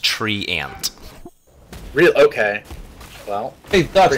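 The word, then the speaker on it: Treant: Twitch chat saying that it's pronounced tree ant.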